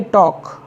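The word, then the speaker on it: talk: काफ काफ means बछड़ा टी ए एल के टॉक मीस बात करना सीच ए के चौक चौक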